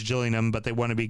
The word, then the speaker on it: Gillingham: The the Gills that are the Gills cuz it's spelled like Gillingham, but apparently it's Gillian, but they want to be called the Gills.